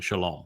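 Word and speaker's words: שלום: Where do you think you get the O sound in Shalom? From the Wah. From the Wah. There are hundreds of Hebrew words where the Wah is pronounced O.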